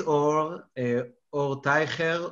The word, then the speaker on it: Or Teicher: So my name is Or Teicher, or this is how they pronounce in Hebrew, or Teicher, if you want to pronounce it in English.